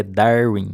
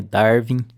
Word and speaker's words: Darwin: Então iniciando aqui, já começando aqui pela pronúncia que eu vejo muita gente errando, é Darwin, não é Darwin, não é com V, vem do inglês.